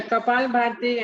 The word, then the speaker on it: Kapalabhati: Mitika, what's the pronunciation? I never know if you're still there. Yeah, Kapalabhati and Bhastrika.